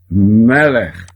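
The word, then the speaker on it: מלך: Este Shevá é mudo, ele está marcando, está pontuando que existe aqui uma consoante sem vogal. Lê apenas o som da consoante. Melech.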